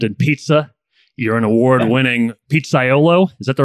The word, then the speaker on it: pizzaiolo: an extensive background in pizza you're an award-winning pizzaiolo is that the right way to say it